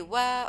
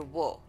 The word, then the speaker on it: و: So and we say wa or we or wo. According to the letter, afterwards we can change it a little bit in the pronunciation, but generally we.